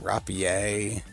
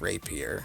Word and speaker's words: Rapier: Some people will pronounce this word Rapier, like it's because it's French in origin or something, which it is, but it's still pronounced Rapier.